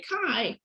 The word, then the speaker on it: chi: greek letter chi and it's spelled uh chi but you'll i people will laugh at you if you say cheese so you have to say kai like that okay otherwise people will